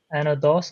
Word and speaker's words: Anodos: Uh welcome to the June launch uh for our another episode with our uh great guests from Anodos. I hope I I hope I'm not uh mis- pronouncing that.